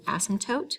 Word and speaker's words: asymptote: this word here is asymptote we don't really pronounce the p in that word an asymptote is a